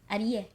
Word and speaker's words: Adiye: This is super Adiye. fun. That's right. That's how you pronounce it. Adiye.